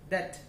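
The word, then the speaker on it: debt: होता है एक डेट, D-E-B-T, डेट. तो ऐसे वर्ड जो होते हैं, डाउट, D-O-U-B-T, डाउट. तो ऐसे वर्ड्स में हमारा T जो है B साइलेंट रहता है, टी हम प्रोनाउंस करते हैं. For example डेट डी ई बी टी, इसमें हम बी प्रोनाउंस नहीं करेंगे. डाउट डी ओ यू बी टी, इसमें भी हम बी प्रोनाउंस नहीं करते, टी प्रोनाउंस होता है, बी साइलेंट रहता है.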